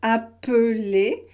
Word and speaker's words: appeler: Et puis, vous voyez par exemple ce verbe « appeler ». Il y a 3 syllabes. A, pe, les.